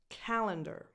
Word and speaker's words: calendar: Calendar. Calendar. The stress goes on the first syllable. Calendar. Calendar. So the other 2 vowels in the other 2 syllables are less defined because those syllables are not stressed.